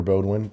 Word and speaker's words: Boudwin: okay my name is bwin or Bodwin can it be pronounced either way uh I'm a financial